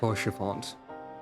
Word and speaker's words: Haurchefant: Okay, we're pronouncing the H now. To aid those in need. Haurchefant. And the T.